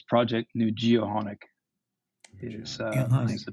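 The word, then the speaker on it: Nujio'qonik: for for Bay St George so it's project new geonic is the pronunciation thank you um can you tell us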